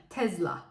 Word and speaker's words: Tesla: bir marka olan Tesla İngilizce'de okunuşu açısından değişen tek görürseniz Eye dönüşmesi yani Tesla şeklinde okunuyor Türkiye'de en çok tercih